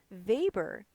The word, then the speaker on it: Weber: a bit about Labor remember we pronounce the W as a v so when we come to Max Weber he provides a bit